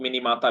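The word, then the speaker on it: Minamata: एक डिजीज होती है उसको बोलते हैं मिनीमाटा डिजीज, कुछ लोग मिनीमाता भी बोलते हैं। जापानीज में ऐसे प्रोनाउंसिएट करते हैं, वैसे हम लोग इसको अंग्रेजी में मिनीमाटा बोलते हैं भाई साहब, है ना?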